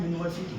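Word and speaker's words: university: इसका उच्चारण होता है यूनिवर्सिटी। पहले य आएगा।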